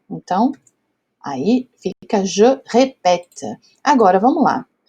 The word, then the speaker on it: répète: Então, esse caso aqui, para ter esse som de pé, ré, pé, eu preciso do acento contrário, o acento grave, tá bom? Então, je répète les mots.